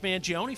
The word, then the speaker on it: Mangione: Is it an E? I think you pronounce the E.